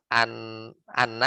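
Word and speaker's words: أنّ: Jadi anna yang dibaca anna, hamzahnya di fathah. Ya tuftahu hamzatu inna, jadi hamzah inna di fathah, jadi bacanya anna bukan inna lagi.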